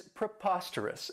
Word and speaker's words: preposterous: I really like, is preposterous. And this adjective has 4 syllables, and the stress is on that second syllable. Preposterous. And remember that O-U-S has that schwa, that us sound.